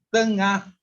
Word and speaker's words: tengah: It's two syllable. Tengah hari.